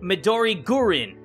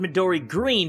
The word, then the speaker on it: Midori Gurin: And specifically, Midori Gurin. It says, "By the way, Midori Gurin is pronounced Midori Green, but with a Japanese accent."